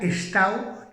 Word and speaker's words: estau: y que significa casa, pero se pronuncia estao y escriben estau.